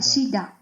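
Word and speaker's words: གཞི་བདག: GZHI BDAG và nó được phát âm là "shibdak". Chúng tôi phát âm "b".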